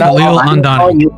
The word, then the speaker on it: Khalil Andani: My name is going to be mispronounced. I should correct it, right? Okay. I don't Khalil Andani. Khalil Andani.